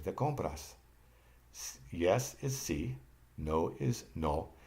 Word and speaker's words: no: Now notice when I pronounce no, it's different than the English no. And the difference is in the Spanish, when you pronounce an O, you leave your lips open to get the O sound.